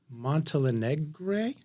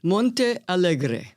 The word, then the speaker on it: Montealegre: of Leonard Bernstein and Felicia montalegre not quite but it was close close how is it Monte alre Monte alre Alicia Monte alre okay I knew I